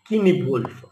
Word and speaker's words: Cynewulf: Cynewulf, you have to concentrate on the spelling, because the spelling begins with C, C-Y-N-E-W-U-L. The pronunciation is Cynewulf.